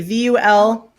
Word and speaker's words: Vulfpeck: Is it spelled Wolfpack but pronounced Wolfpack? Wolfpack with a V. Vulfpeck.